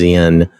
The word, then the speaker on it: Ai: the sources agree that it was actually pronounced I, as in your eye, or as in the letter I. So even though it's AI in the spelling is AI, the pronunciation, the correct pronunciation is I.